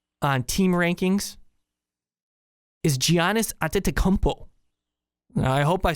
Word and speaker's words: Antetokounmpo: Because the best player in the East, according to the value system here on team rankings, is Giannis Antetokounmpo.